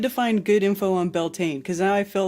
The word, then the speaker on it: Beltane: Beltane, pronounced Beltane, means bright fire in